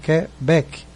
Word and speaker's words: Quebec: Só que a pronúncia é forte, não é o que, é o bec. Então é Quebec, Quebec.